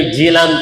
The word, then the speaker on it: جیلان: کا نام ہے گیلان۔ اب گیلان کو عربی میں جیلان کہتے ہیں، کیونکہ گاف یہ عربی میں نہیں ہوتا، صرف کاف ہوتا ہے۔ تو گاف کا انڈیکیشن، گاف کا جو تلفظ ہے وہ جیم سے کر دیا جاتا ہے، اسی لیے آپ